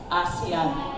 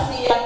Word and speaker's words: ASEAN: The chairmanship of the Philippines in this year's ASEAN. No? So, primero nga, gitudlo sa ako ang pag-pronounce. Dili ko na ASEAN, kundi ASEAN.